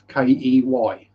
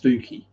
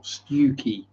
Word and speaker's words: Stiffkey: Place I've always known as Stiffkey Marshes because it's spelled Stiffkey. Stiffkey. Now that's pronounced Stooky or Stewkey.